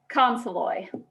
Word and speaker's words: Consolloy: all right miss and is it khan floy or consloy how do you say it consolloy okay will you fantastic